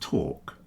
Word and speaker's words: talk: Walk and talk. Now, there might be some places in England where they do pronounce the L. If you go up to the northeast, you might hear wal and talk to, but for the majority of people, it's walk talk with a silent L.